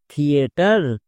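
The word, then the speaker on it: theatre: এর উচ্চারণ কি হচ্ছে, থিওরি। নেক্সট থিয়েটার, টিএইচ এর পরে ই আছে, তা সত্ত্বেও টিএইচ এর জন্য হচ্ছে।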